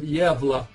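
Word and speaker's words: Gävle: search for um uh and spell it javal G vle this is um the Swedish town of yeva um so gav vle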